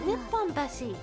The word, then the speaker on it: Nipponbashi: You're thinking of Nihonbashi. The one in Osaka is called Nipponbashi. Don't they have the same... Oh, don't they have the same kanji? Yeah, that's why you use different pronunciations to tell them apart.